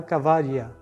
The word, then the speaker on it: Kavala: tem um nome chamado Kavala, com K e dois L's, que se bem pronunciado Cavaria.